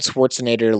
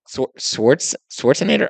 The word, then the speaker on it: Schwarzenegger: saying he was like gonna be like Arnold Schwarzenegger level action star. When this movie came out, that was like people were saying You want to take another run up at that last name? Yeah. Schwarzenegger, Arnold Schwarzenegger.